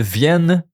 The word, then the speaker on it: viennent: Elles viennent régulièrement. No NT, not no viennent. Viennent. Okay? It's more like just the NT you don't pronounce.